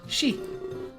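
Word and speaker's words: し: The number 4 can be pronounced she. It's like the same as saying death.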